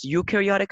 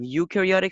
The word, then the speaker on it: eukaryotic: cells so we have eukaryotic cells here and we have prokaryotic cells so their names are complex complex i get it so u u is pronounced like letter u care is pronounced as